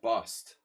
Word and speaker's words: bused: Every other word with that formation is U. So how the heck is that bust? There's no other word like U-S-E-D is pronounced like that.